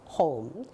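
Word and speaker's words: home: 그러면 이것은 우리가 흔히 콩글리시 영어라고 하는데 미국식 발음은 O에 강세가 있어서 호음이라고 발음을 해야 됩니다. 호음.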